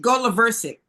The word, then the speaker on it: Goloversic: The accent is on the go. Right, Goloversic.